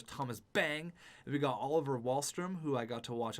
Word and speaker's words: Wahlstrom: so it's barzell bang wallström that is a nasty line Sorry Sorry Sorry it's barzell bang and then oliver Wahlstrom i knew i wasn't pronouncing it right we got Grayson Webb